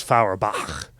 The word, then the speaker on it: Feuerbach: We're actually saying it incorrectly because it's Feuerbach is how it's supposed to be said.